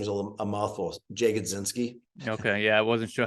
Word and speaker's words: Jagodzinski: And if you just, my last name is a mouthful, Jagodzinski.